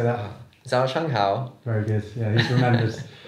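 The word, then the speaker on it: 早上好: Zhao Shang Hao.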